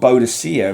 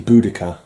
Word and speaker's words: Boudicca: for the time so what's called bodocia originally but i think they realized they got her name wrong it was actually boudicca i believe something like that lovers reunion star sapphire